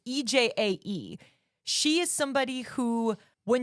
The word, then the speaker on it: EJAE: most of the songs, I don't know if it's pronounced EJ or EJai, it's EJAE.